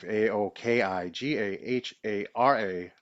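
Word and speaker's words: Aokigahara: give you some frequency a o k i g a h a r a a better pronounciation maybe Aoki gahara gahara Aoki a o Ki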